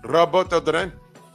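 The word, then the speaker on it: Durán: I mean, they should make a mixtape of the things that Roberto Duran said. I'm sorry, Roberto Duran. Gotta say it like how they say it. Roberto Duran.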